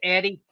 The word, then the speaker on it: Erie: It's spelled Erie, but pronounced Eddie, I think.